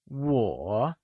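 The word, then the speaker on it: 我: Lets learn the pronunciation for Wǒ Wǒ is pronounced using the falling rising tone, Can you say Wǒ ?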